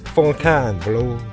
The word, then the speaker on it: Fontainebleau: 아, 발음 확인자. Fontaine은 영어고 프랑스 말로 Fontaine. Fontaine Blau.